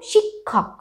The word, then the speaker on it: শিক্ষক: আমাদেরকে মনে রাখতে হবে যেরকম শিক্ষক শিক্ষক ক আর খ এর একটা উচ্চারণ আসছে কিন্তু যুক্তক্ষর ক্ষেত্রে শিক্ষক